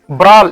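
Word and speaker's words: brawl: Today in the competition ब्राल इसमें W silent है ब्रॉल ब्राल बोला जाता है ब्रॉल मीन्स फाइटिंग करल ओके ये कोरल बोला जाता है।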